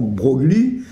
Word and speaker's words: Broglie: dû le mettre j'ai mis de Breuil évidemment Brogli c'est le mot enfin ça vient de l'Italie c'est pour ça qu'on prononce BR mais en fait il y a